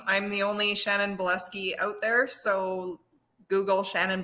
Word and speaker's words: Bileski: Honestly, my name, I'm the only Shannon Bileski out there. So Google Shannon Bileski. And it's spelled bile as in like There we puking go. bile and ski. So like your Bileski. bile ski.